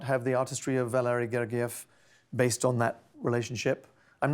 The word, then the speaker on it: Gergiev: Your fellow conductor, and you're going to have to help me with his last name, Valery Gergiev, is that how you say it?